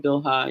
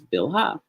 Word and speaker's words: Bilhah: And we'll see, we pronounce her name Bilhah in English. We've got a bet with an I sound, a lamed with just a schwa under it. And then ha, H, A sound, H. And so if we were transliterating that, we would write it out and pronounce it the same way we do in English as Bilhah.